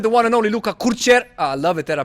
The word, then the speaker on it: Kurcer: The way you said it, actually, the last time, you said Kurcer. And that is the correct pronunciation Kurcer.